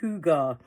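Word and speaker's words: hygge: And she told me that that's pronounced huga.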